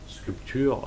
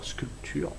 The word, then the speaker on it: sculpture: Tu peux constater que la sculpture, Sculpture. Bien. Le P se prononce pas.